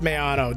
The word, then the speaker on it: Maono: No, it's pronounced Maono.